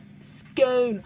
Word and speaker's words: scone: Yeah, rhymes with bone. Scone. I do flip and use both. But I think if I was just reading the word, most of the time I say scone.